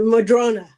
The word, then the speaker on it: Madrona: Uh, Madrona.